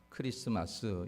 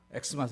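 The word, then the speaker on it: Xmas: 마스로 읽으면 안 되고 크리스토를 줄여서 그냥 그 알파벳 크만 그렇게 놓은 거니까 크리스마스 이렇게 여러분들이 읽으시면 됩니다 혹시 누가 엑스마스 이렇게 읽거든 아는 척좀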